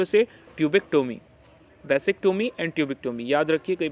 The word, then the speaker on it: vasectomy: Sterilisation procedure in the mail is called वैसेक्टोमी, इसे pronounce करेंगे वासेक्टोमी है ना।